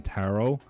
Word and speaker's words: tarot: We don't pronounce the T in tarot because we Brits drank it all.